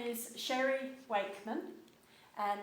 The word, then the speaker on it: Sherry: but my name is sherry wakeman and it's spelt s-h-e-r-y so it's pronounced sherry like the drink my middle name is